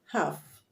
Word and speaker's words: half: is silence another word half half the l is silence so the word is pronounced half and not half half not half the l is silent we sit the p